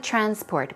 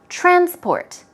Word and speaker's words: transport: a vocab word okay there is no public transport we're talking about public transportation for example okay now you should be careful transport when the stress goes on the first syllable